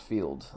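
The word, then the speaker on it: Feeld: account on there but Fields field not Fields spell it one more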